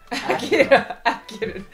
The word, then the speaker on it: Akira: Akira. I'm trying not to say it like the car.